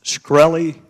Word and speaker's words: Shkreli: Is it pronounced Skrey? Yes, sir.